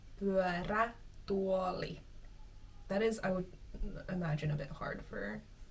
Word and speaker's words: pyörätuoli: Next word is Pyörätuoli. That's a bit of a tough mouthful. But that is a wheelchair. Pyörä means wheel. Tuoli is chair. Wheelchair. Direct translation. How fun. Pyörätuoli. Pyörätuoli.